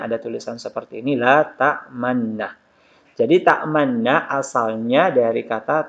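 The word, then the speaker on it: تَأْمَنَّا: Jadi dibaca ta'manna, ta'manna. Jadi domanya terbuang dan hanya diisyaratkan dengan bibir dimonyongkan.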